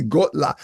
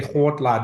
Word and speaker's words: Kgotla: pronounce it HLA because I try to combine the K and the G and I just saw you say Gola is there a proper